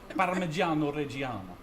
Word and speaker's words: Parmigiano Reggiano: Yeah, but how do you say that in, the chefy Italian way? All right, you ready for this? Parmigiano Reggiano. Perfect.